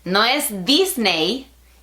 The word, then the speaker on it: Disney: Now, Samsung has released an official package feat Disney. (It isn't "disney" [Spanish pronunciation], it's disney [English pronunciation].